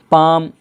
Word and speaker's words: palm: Half, HALF, half, half का माना होता है आधा, यहाँ पर भी क्या हो गया, एल साइलेंट हो गया। क्यों, एल के बाद क्या है, एफ है। पाम, पाम का माना होता है हथेली, PALM, यहाँ